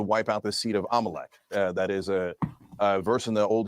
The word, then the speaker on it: Amalek: that talks about exterminating Amalek. So they're talking about. It's pronounced Amalek, not Amalek. Amalek, like Carrie Lake, Amalek, but it's actually Amalek, is how we pronounce it.